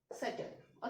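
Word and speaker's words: subtle: तो some word we can take just like, एक word होता है सेटल. ओके. तो यहाँ पे बी हमारा साइलेंट रहता है.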